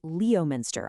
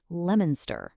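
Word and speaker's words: Leominster: Your brain wants to say leminster. I know. But here's the secret. That O is silent. It's pronounced lemonster. Yeah, just like the word lemon.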